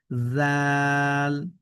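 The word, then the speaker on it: ذال: দাল দাল এরপরে দেখেন জাল নরম করে হা যেভাবে পড়েছি ঠিক একইভাবে আমরা পড়ছি জাল এরপরে এটি দেখেন র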